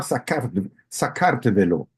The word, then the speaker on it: Sakartvelo: de paso, en georgiano el país se llama Sakartvelo, así Ah, se ok.